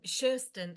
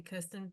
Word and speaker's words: Kirsten: I'm Kirsten, actually, but do call me Kirsten if you want to, because it's spelt that way and it's just a nightmare.